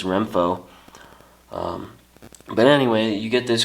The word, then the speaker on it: Renpho: app that they have it's called renfo and i think i'm pronouncing this right rem and pho so i think it's renfo but anyway you get